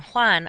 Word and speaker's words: Juan: The letter J in Spanish is how they make our H sound. The names Jose and Juan are spelled with J's because that's when they use the H sound.